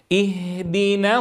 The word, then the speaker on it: اهدنا: هذه الآية يا الأحبة فيها ملاحظات عديدة، أولها الانتباه إلى كسر الهمزة عند البدء، وليس اهدنا كما ألحظ في نطق البعض، اهدنا.